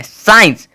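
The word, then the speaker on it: science: अब देखोगे यहाँ पे एस के बाद सी है तो इस सी का कोई भी साउंड जो है नहीं होना चाहिए, नहीं होना चाहिए, जो कि नहीं है। साइंस, SIENCE का प्रोनाउंसिएशन आया है लेकिन इसे लिखा जाता है SCIENC, ठीक है।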